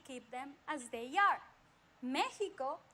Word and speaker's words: Mexico: ancient value don't forget in the past many years ago the eggs used to be pronounced as sh so it would be like mexico right mexico in mexico